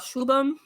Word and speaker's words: Shubham: Anywho, now we're gonna talk about Shubham. And that's how you pronounce his name, y'all.